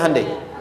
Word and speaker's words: Hyundai: sana bikin Honda sini hundai Hyundai kan dibacanya hundai ya kan sana Honda